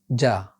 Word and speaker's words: ج: This is ja, ja. Its sound is like the first one in jar.